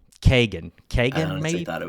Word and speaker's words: Keoghan: The movie stars, it's not Barry Keoghan. It's not Keegan. I'm mispronouncing his last name. It's Barry Kagan.